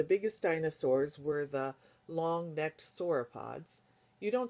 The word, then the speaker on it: sauropods: dinosaurs were the long-necked sauropods, you don't say it again, sauropods. That's just there for you as the reader to know how to say it when you say it here.